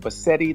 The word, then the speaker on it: Bassette: she was in in our last name we pronounced it but seti like spaghetti yeah so uh when she met